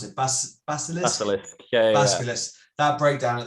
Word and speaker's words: Basilisk: I'm going to go with track 4 because the breakdown at the end, I don't know how to pronounce it, Basilisk? Basilisk.